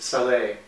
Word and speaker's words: salé: It's called cake salé. It's spelled S-A-L-E, but it's pronounced salé.